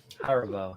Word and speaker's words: Haribo: years polypha i've never heard anybody call it haribo yeah that's how you say it haribo yeah delicious i i i i do like